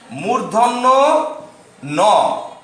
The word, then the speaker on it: ণ: Your পরে যে বর্ণটি আসছে ট, ঠ, ড, ঢ, এর পরের বর্ণটি, এর পরের বর্ণটি হবে, উচ্চারণ করছে আমি মূর্ধন্য ন।